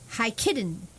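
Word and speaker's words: Jikiden: that's Western raiki now Eastern Reiki is hi kidden j i k i d n but that but the J is silent I believe in jaes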